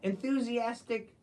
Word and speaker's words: enthusiastic: idiot be scared yeah enthusiastic the pronunciation of enthusiastic you got it here we go bu bum bu n z atic now let me write it phonetically n f z atic enthusiastic enthus that's a zed